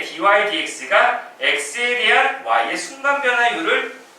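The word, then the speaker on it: dy/dx: 지금 뭐 유리수처럼 살짝 보이지만 뭐 dx분의 dy라고 뭐 생각을 많이 하겠지만 그렇게 읽는 거는 아니고 약간 나중에는 뭐 약간 유리수 약간 개념처럼 뭔가 약분되고 그런 건 없지 않아 있는데 읽을 때는 어떻게 읽어야 하냐면 dy dx라고 읽어줘야 돼요.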